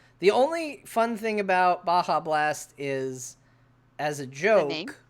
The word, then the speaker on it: Baja Blast: The only fun thing about Baja Blast is, as a joke, we started calling it Badja Blast because it's fun to mispronounce things.